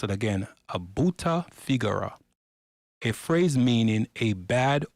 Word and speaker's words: brutta figura: Switching to Italian, he called it a brutta figura. Let's pronounce it again, a brutta figura, a phrase meaning a bad or embarrassing impression.